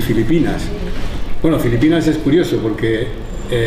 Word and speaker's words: Filipinas: Todavía hoy, si veis a una inmigrante filipina y escucháis, veréis que todavía no pronuncian la F, la hacen P, Filipinas, ¿no?